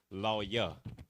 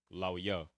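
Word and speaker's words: לוי: So Levi is the English, Lawya is the Hebrew, Lawya, which means join to me.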